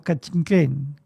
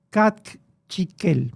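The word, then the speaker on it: Cakchiquel: Es ahí donde vivían los Cachiquén, Cachiquel, para pronunciar correctamente.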